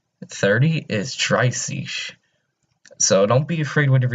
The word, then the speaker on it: dreißig: 30 is dreißig. So don't be afraid whenever you see that weird looking B. Think of it as just two S's. So it's just dreißig.